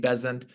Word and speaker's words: Besant: she left him so she became bezant rhymes with Pleasant she said it's really